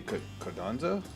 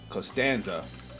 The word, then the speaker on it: Costanza: Turns out that the music for the raid was sung by, I'm gonna pronounce her name wrong, Christy Conenza. Hold on. I always pronounce her name wrong. Costanza. There we go.